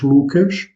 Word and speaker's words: Lucas: Donc Luc se prononce Lucas.